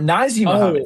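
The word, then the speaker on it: Nazr Mohammed: Well, so the Naz is it Nazer Muhammad is Naz R. What? Or Nazi Muhammad. That's how you pronounce it.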